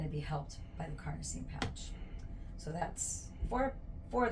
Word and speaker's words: carnosine: going to number four carnosine carnosine it kind of rhymes with carne like carneada tacos helps you remember you